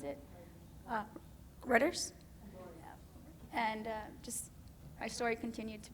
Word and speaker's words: Reuters: And I was on Reuters, I think that's how you pronounce it, Reuters.